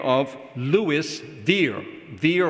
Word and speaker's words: Were: Veer or Weir, I think his name should be pronounced Veer, I'm not sure.